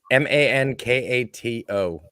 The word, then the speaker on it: Mankato: Yes, I'm pretty sure Mankato is like the pasta. No, it's Mankato.